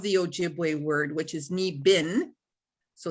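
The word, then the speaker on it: niibing: English spelling of the Ojibwe word which is knee bin so it's pronounced knee bin and it's spelled n-i-i-b-i-n-g so I thought okay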